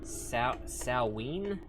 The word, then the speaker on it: Samhain: It's pronounced Samhain?